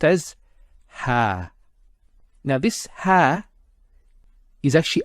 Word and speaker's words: ها: just to do with the script and it's pronounced as ha now this ha is actually a particle it's